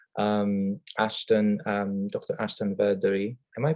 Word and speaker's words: Verdery: Ashton Beri. Am I pronouncing your last name right Ashton?